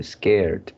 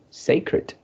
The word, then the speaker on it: sacred: Okay, the first line, uh, this one I forgot how you pronounce something like scared or what. This Yeah. is sacred, Sacred. sacred, yeah.